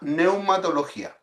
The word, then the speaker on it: neumatología: a que se llama neumatología. Neumatología se escribe con pneuma.